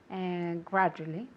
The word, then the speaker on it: gradually: Esa D-U se pronuncia como si fuera una J inglesa.